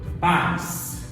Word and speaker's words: pais: Por exemplo, pais, lá o seu pai e sua mãe, eles são seus pais. Grita pais, o pais, tá? Ou, por exemplo, você vai gritar seu pai, o pai. Qual que é a sílaba forte? A penúltima. Se é a penúltima, ela é uma paroxítona.